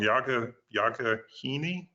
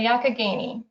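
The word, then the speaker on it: Youghiogheny: in Western Maryland, and I always pronounce the name of the river wrong, Yagahini? The Yakagani. You were close.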